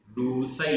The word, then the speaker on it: रूसई: रूसई, रूसई रा में बड़ी ऊ की मात्रा, रूसई।